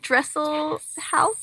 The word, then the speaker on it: Dresselhaus: How do you pronounce it? Dresselhaus?